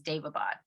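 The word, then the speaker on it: Daevabad: I'm doing an audiobook too, and that's how they pronounce it, is Davabad. There we go. Davabad trilogy, which this has been highly recommended.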